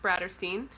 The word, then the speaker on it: Bratterstein: name is Brittany and my channel name is pronounced bratter Steen welcome I'm glad to have you here hopefully